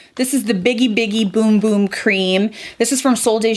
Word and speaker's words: Bum Bum Cream: I used to say Bum Bum Cream, but it's actually Boom Boom Cream when I looked it up.